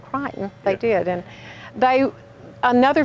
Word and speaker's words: Creighton: good I love that we we pronounced it Creighton but it's crying around here that that's only here that it's called Crichton you go anywhere else in the country and you'll hear Creighton but yes they pronounced it Crichton they did and they